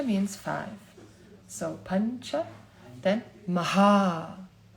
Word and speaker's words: Maha: five so puncha then Maha Maha Maha means big Maha or big it means big or it also means great and you have a puff here and then you have a long o and the long a so we looked into